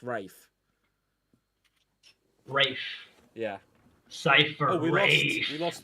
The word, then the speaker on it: Ralph: It's pronounced Rafe. Is it? Yeah, it's Rafe finds. It's not Ray. It's Rafe.